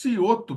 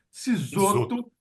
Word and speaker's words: Cisoto: pequenos satélites, e o Ciotto, pronunciei corretamente? Isoto. Cisoto, perdão, o Isso. Cisoto, que é responsável pela arquitetura do satélite.